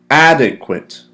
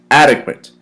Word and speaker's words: adequate: word is adequate adequate how many syllables inadequate we got three syllables inadequate add a quit adequate once more adequate pronounce with me okay